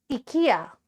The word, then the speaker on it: IKEA: Ikya. IA. Ikya. That is the Swedish pronunciation of IKEA.